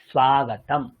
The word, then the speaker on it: স্বাগতম: বাংলাতে আমরা বলি স্বাগত সংস্কৃত দন্তসের সাথে ব যুক্ত আছে বাংলায় কিন্তু এই যুক্ত যুক্ত বর্ণের বকারের উচ্চারণটা হয় না স্বাগত জানাই স্বাগত কিন্তু সংস্কৃত স্বাগতম মানান ভুল উচ্চারণও ভুল স্বাগতম স্বাগতম স্বাগতম এযে সয়া